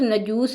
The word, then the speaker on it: نجاشی: بن اجبر تھا اور نجاشی اس کا لقب تھا، جس طرح روم اور ایران کے حکمران کیسر و کسریٰ کہلاتے تھے۔ افریقی زبان میں نجاشی کا تلفظ نجوس ہے اور اس کا معنی